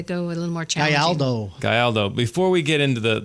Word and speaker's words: Gayaldo: with that is the mayor of Rocklin, Gayaldo. So close. So close? So close. So close, but so far away. How do you really say it? How do you say it? Gayaldo. Gayaldo.